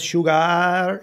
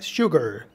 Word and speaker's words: sugar: al azúcar Sugar Sugar la última sílaba suena cortita no es Sugar Sugar Sugar a la sal en